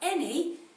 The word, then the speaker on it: any: the word ellie now any it's got a bit of a strange sound at the beginning because that ah is